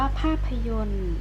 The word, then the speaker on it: ภาพยนตร์: ไป เข้า 7 ค่ะ อ่าน ว่า ภาพยนตร์ โรง ภาพยนตร์ เปิด ตัว ที่ ไม่ ออก เสียง เลย ตัว ไหน กัน เอ่ย ต่อ ต่อ รอ เรือ การันต์ นะ คะ แต่ เขา